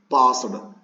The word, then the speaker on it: passed: Passed. PASSED. Passed. Pronunciations ST ತರ ಮಾಡಬೇಕ್ರಿ ಅದು.